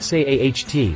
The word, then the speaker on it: SEAT: mass market models like the seat leon pronounced say aht from volkswagen in europe